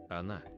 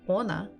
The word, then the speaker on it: Она: So if I'm not sure, I try to stress the first letter and I say ona. Ona. Она. Ona doesn't sound like она. So definitely not the first syllable. Она. Она. Она. So we stress Она. the second one.